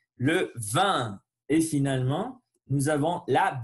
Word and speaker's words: vin: Le vin, c'est pas le vin, sinon le vin. Il faut tirer le lèvre et faire sortir l'air par le nez. Le vin.